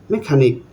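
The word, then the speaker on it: mechanic: technology technology এখানে সিচ একসঙ্গে আছে এখানে এইচটা সাইলেন্ট হয়ে গেছে তারপরে আছে নেক্সট আছে এখানে মেকানিক মেকানিকের এখানে সিএইচ একসঙ্গে আছে তাই এই এখানে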